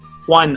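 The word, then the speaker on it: Hwan: juan is actually okay my chinese last name is actually pronounced as one also but my h-w-a-n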